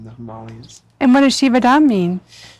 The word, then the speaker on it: Shivadam: And what does Shivadam mean? Shivadam. Shivadam, yes, is the proper pronunciation.